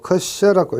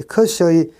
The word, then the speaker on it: Kirsch: 자, 그래서 이것을 KIRSCH, 컷이라고 읽기도 하고 컷셔라고 읽기도 합니다. 이 컷의 해라고 이야기합니다.